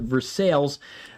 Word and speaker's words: Versailles: But I would treat it like a tornado warning east northeast of Versales, Missouri. Maybe it's Versailles. I know in Kentucky they pronounce it Versailles.